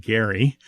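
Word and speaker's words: Gerry: meaning old men or the pronunciation of Jerry Mander the guy's name was originally pronounced Gary oh really um but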